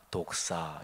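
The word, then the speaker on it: δόξα: 영광 또는 영화, 이 단어가 독사 이렇게 발음합니다. 발음이 좀 이상하긴 하지만요, 어쨌든 발음이 그렇습니다.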